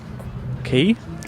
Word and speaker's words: Quay: out on the Elizabeth key yes want to call it Quay Elizabeth Quay yes because of the way that it's spelled I think it's my